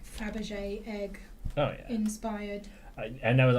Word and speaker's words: Fabergé: Because this one was very much like Fabergé egg inspired. And there was a lot of very dramatic Fabergé eggs. Fabergé? Fabergé. Fabergé. Not fra. Fab. Fab. Like the ice cream. Fabergé.